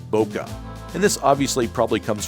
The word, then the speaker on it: bokeh: They came up with the term bokeh, and some people pronounce it bokeh. Either way is acceptable.